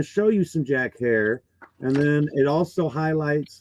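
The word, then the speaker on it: Herer: know like Jack hair I always pronounced it Herrera which was wrong and I was told it's hair like Terror so my Jack Herrera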